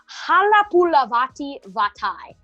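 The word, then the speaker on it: Halapoulivaati Vaitai: On the offensive side of free agency, they signed Halapulavati Vatai. Yes, I pronounced that correctly.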